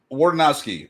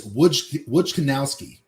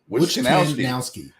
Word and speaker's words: Wojciechowski: Can you pronounce that? Wardenowski. What? Wadenowski? Nope. I got the Nope. ski part right. It's Wojciechowski. Wojciechowski.